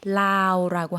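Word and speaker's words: ลาว: 라오스 했는데 태국 분들은 이렇게 뒷발음을 많이 묵음화하기 때문에요. 라오라고 하면 라오스가 되겠습니다.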